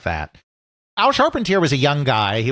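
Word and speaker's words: Charpentier: Al Sharpentier I suppose he pronounces his name. I want to pronounce it Sharpentier. I know Dale knows what I'm talking about. I suppose that since he's American, he probably pronounced it sharpener or something like that.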